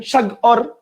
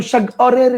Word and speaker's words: সাগর: আপনি জিতে যাইয়া থামবেন সাগ অর আপনি কি উচ্চারণ করেন সাগরের নীল তীরে সাগ অরের বানানটা কিভাবে বলেন আপনি বলেন না আপনি বলেন সাগর নট সাগ অর কথা কি বুঝতে পারছেন